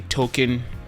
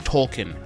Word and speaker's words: Token: Tolkien and by the way if you say token you're part of the problem because his name is pronounced Tolkien anyways I thought it was very funny when